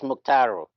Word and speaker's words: Muctaru: I pronounced your name correctly? It's Muctaru.